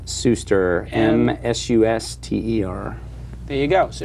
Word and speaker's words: Suster: Did I pronounce it right? Suster, yeah. Suster.